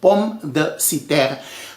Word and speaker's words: pomme de terre: It is a French name, pomme de terre.